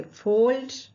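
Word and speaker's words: fold: यहाँ भी एल को हम पढ़ते हैं, यहाँ एल साइलेंट नहीं होता है, इसे हमें अच्छी तरह जेहन में बिठाना चाहिए, इसे हम पढ़ेंगे फोल्ड और यहाँ कोई रूल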